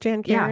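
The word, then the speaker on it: Jan Karon: how do you say her name is it Jan Karen is it just Jan Karen yeah that's that's how I've always said it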